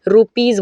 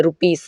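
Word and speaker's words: rupees: रुपीज़ बोलते हैं, रुपीस नहीं रुपीज़, देखिए पी ई आया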